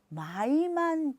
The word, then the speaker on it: my: honey, sweetie, peanut, pumpkin 자 익숙해지시면 이제 아이를 부를 때 my만 붙이셔서 my baby my도 우리가 보통 my 이음절로 하지만 보시면 my죠. 하나로 발음하셔야 돼요.